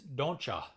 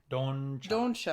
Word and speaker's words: don'cha: I was talking to my dad about that, and he's like, "No, the T makes it too hard." Yeah, don't. It's don'tcha. Don'cha. Don't you know?